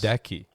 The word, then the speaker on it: Goedeke: Goedeke. I just said go Deke. It sounds like think about that though. Go Deke 'em.